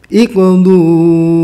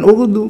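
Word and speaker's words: اقضوا: Begitu pula summa iqdu ilayya wa la tunzirun. Iqdu bukan uqdu.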